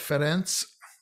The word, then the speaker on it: Ferenc: unfamiliar to english uh c by itself ferenz that's that's like it might be in english but if the c